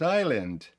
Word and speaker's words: island: If I want the lottery, I might buy a private island. Тактак, це вимовляється island, не island.